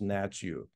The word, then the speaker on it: Hnatiw: family history and uh how how your last name is now pronounced natu so my family history